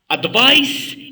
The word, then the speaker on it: advice: Advice is pronounced when an ending sound like ice تنطقوها كي تنقولوا ice advice اوكي انتبهوا النطق ديالها advice.